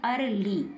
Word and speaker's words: early: ई को साइलेंट रखेंगे, क्या बन गया? अर्ली।